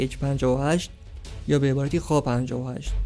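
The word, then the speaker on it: Х-58: بمبای سقوط آزاد با وزنهای مختلف موشک ضد رادار کی اچ ۵۸ یا به عبارتی خا ۵۸ تلفظ حرف شبیه ایکس به روستی میشه خا و توی انگلیسی ک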